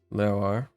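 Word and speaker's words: leabhar: You only consider leoar, word for books. Again, since the L is followed directly by an E, which goes unpronounced, the L in this context is slender.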